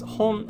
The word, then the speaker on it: 本: would be just the kanji by itself it's pronounced as hon and it means book another word would be